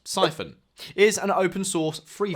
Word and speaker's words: Psiphon: Psiphon, pronounced Siphon, is an open source